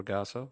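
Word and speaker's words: Ragassa: your name again yes my name is ragasa last name spell r-a-g-a-s-s-a and you pronounced it correctly madam chair i couldn't read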